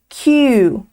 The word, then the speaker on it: queue: A palavra seguinte significa enfileirar e nós falamos queue. Queue. A pronúncia desse verbo é exatamente igual à letra Q no inglês.